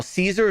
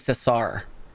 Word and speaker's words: Cesar: Caesar is the Greek pronunciation. His name was Cesar.